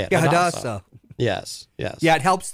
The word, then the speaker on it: Hadassah: Yeah, Hadassah.